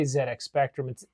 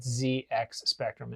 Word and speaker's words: ZX Spectrum: Amstrad and the CPC, which competed with the Z, we say ZedX Spectrum. If you look it up on the internet, ZX Spectrum. In the UK, they pronounce Zed.